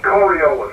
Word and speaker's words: Coriolis: uh as per usual uh one thing on pronunciation coriolis is the the word that you're looking for so it's coriolis uh i think you got it right towards